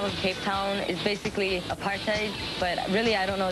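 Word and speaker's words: apartheid: Just think of a part like being a part and hate. Apartate. Apartate.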